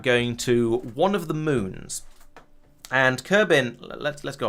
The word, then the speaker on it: Mun: have numerate over it so it is sort of more or less pronounced Moon rather than mun um I'm sure the